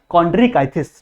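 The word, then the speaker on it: Chondrichthyes: याद हो ठीक है इसका एक्चुअल प्रनंसीएशन क्या है कॉन्ट्रिक्स ठीक है तो एक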